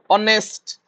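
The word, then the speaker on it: honest: start होची तो ओ that means कोडा एटा ऑनेस्ट ऑनेस्ट और अ माने कोन एटा आसीबो बी the correct pronunciations of डेप्ट एटा हम कोन कहै डेट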